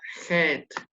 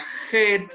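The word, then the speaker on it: חית: de la ley y esta se pronuncia como una jota como una j lage y en la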